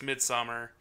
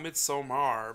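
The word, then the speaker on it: Midsommar: pretty predictable but it's midsummer it's not mid somar because that's not how you say it it's midsummer they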